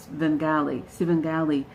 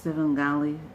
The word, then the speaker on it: Svengali: Now, I think I sort of mispronounced Svengali. No, the S is silent. Clinton's ideologically androgynous Svengali.